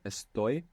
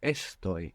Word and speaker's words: estoy: entire Spanish language that doesn't have the accent on the penultimate syllable in the present tense so it's not estto it's EST the accents on the ending this hasn't happened until